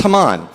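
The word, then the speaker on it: Hammond: You may recognize it by its non-Jewish spelling, H-A-M-M-O-N-D, but it's pronounced Haman.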